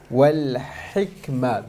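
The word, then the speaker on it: والحكمة: Wal hikmah, the ha needs to be pronounced clearly, and the kaf, there's a hams on it.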